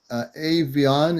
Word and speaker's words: Avion: So and I'm pronouncing it right. Avion, is that right?